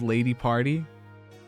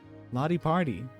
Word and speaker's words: Lottie Party: Everyone always goes Lady Party. Lottie Party. It's very much not that.